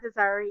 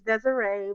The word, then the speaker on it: Desiree: No, my name is not Desari. It's Desiree, but I You can call me Desire for short.